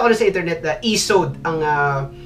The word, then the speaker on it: Isode: So hindi siya ISOD eh, kasi nakita ko na sa internet na ESOD ang pronunciation sa product na to.